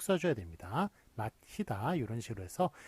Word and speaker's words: 맞히다: 맞히다 이런 식으로 해서 발음은 마치다 똑같아요.